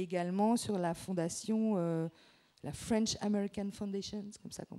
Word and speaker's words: French American Foundation: maladie d'Alzheimer, et également sur la fondation, la French American Foundation, c'est comme ça qu'on prononce.